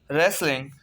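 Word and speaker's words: wrestling: रेसलिंग, रेसलिंग कुश्ती। W जो है साइलेंट है, RESTLING, रेसलिंग।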